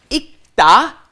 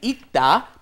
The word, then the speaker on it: 읽다: 읽다 is the pronunciation for the word reading, right? 읽다, because when it is followed by a consonant, then you must not pronounce it fully. You don't bring up the L sound, so it becomes 읽다 or 읽는다 because it's followed by a consonant here again, the N, right?